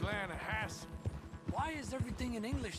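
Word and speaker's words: Lannahechee: The other day, I rode down to the Lanahechee River. I caught some beautiful steelhead trout. You mean the Lana Hasay River. No, no, no, no, no, no. The The Lanahechee.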